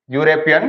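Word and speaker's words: European: अब देखो, अब यहां पे अपने पास में क्या है, थर्ड, ही इज यूरोपियन, इसका प्रोनाउंसिएशन करो, इसको पढ़ते यूरोपियन, बोलो यू, यूरोपियन, तो यूरोपियन, ठीक है, अपने पास क्या है, यूरोपियन है।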